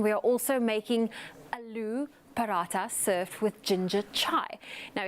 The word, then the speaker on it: paratha: The paratha. Aloo paratha. Paratha. Yeah, so there's kind of emphasis on the TH.